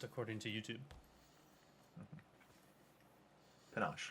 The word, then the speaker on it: panache: something more panache, Okay. which is how it's pronounced according to YouTube. Panache, like ganache.